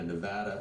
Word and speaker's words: Nevada: Nevada is pronounced with the VAD rhining with bad.